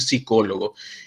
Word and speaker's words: psicólogo: juntas siempre recuerden que una de estas consonantes va a desaparecer por ejemplo cuando decimos psicólogo no que yo puedo escribir con pe o solamente con s no pero en la pronunciación siempre será es es decir psicólogo y vean que en el